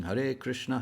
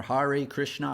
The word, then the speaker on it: Hare Krishna: out into the streets chanting hare krishna krishna krishna krishna rama rama harihari except they weren't pronouncing it like that they were pronouncing it more hari krishna hari krishna and when they came